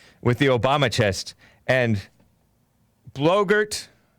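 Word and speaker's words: Boebert: the obama chest and blogert which rhymes with yogurt dark side of the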